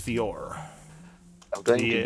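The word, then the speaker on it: Vijor: i have uh his name is vior i j o r j is silent i'm going to give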